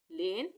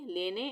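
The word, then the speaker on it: lane: उसी तरह से 5, जोन, लेन, इन सब वर्ड में ई का उच्चारण नहीं आएगा। इसको कभी भी गलती से हम 5वे, जोने, लेने ऐसे नहीं पढ़ेंगे। 5, जोन, लेन।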